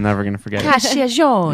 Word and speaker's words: Cacciagione: Cacciagione. Yes, I love it. I say it like this.